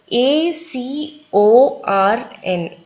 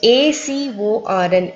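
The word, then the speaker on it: acorn: அது வந்து long vowel sounds use பண்ணி எப்படி pronounce பண்ணிருது அப்படியிருது நம்ம படிக்கலாம் A, C, O, R, N so A க்கு வந்து நான் என்ன சொன்ன long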